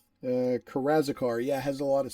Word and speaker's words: Karazikar: Karazikar, yeah, has a lot of slaves.